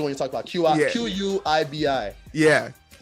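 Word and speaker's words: Quibi: you're talking about Qi qibi yeah I think it's pronounced quby it's basically the streaming platform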